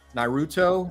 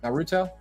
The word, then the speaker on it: Naruto: really I don't even know a lot about Naruto I know my son he's about to be uh he's 18 and he loves he loves narut am I saying it right Naruto Naruto Naruto yeah I like this pose and